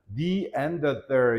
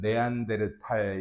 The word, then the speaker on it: Neanderthal: 즉 언제 영어 발음 아주 특이하다. neanderthal 이렇게 발음을 하는데 우리나라 말로는 네안데르탈 이렇게 읽잖아. 맞아, 그지?